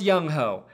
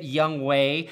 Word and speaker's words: Younghoe: after Chargers kicker Younghoe, and his name is pronounced Younghoe. I don't care how the announcers say it, Youngwei. I don't care if that's how every Korean person on earth says it. In America, it's pronounced Younghoe because that's way cooler, man.